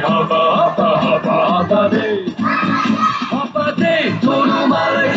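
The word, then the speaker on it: Håfa Adai: Just pronounce it as in half a day. Sing it with a beat and say it every day. Like hoppa, hoppa, hoppa, hoppa day.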